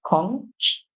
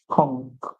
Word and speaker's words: conch: Remember, the British would pronounce it conch, and the Americans would pronounce it conch, conch.